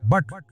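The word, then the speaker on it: but: है ना अबे भाई पी यू टी पुट पढ़ा जाएगा और बी यू टी पुट पढ़ा जाना चाहिए ना लेकिन पढ़ा क्या जाएगा बट अब कोई कहे ये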